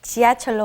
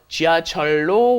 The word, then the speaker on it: 지하철로: It is an irregular because the lil up against the lil becomes a long L. 지하철로 왔어요.